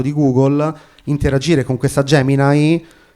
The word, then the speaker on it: Gemini: ha provato a venderci la sua Gemini che in realtà si legge Gemini che è la sua